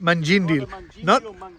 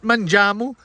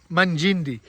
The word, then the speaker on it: Mungindi: That's it, Mungindi. Not Manjamu, Mungindi. We're at Mungindi. I think that's how it's pronounced.